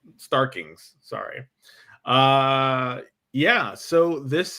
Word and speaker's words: Starkings: Yeah, Dean White uh was the colorist and the letter was Richard Stalkings. Starkings, sorry.